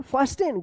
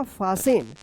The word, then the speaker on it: fasten: क्या पढ़ेंगे, फास्टेन, गलत होगा, इसका सही उच्चारण होगा फासेन, फासन। क्या पढ़ेंगे, फासन, जैसे लिसन, तो क्या होगा, फासन।